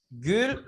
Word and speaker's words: gül: Nah, yang pertama gül, u. Gül.